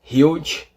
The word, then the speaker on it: huge: Huge com o E mudo, huge.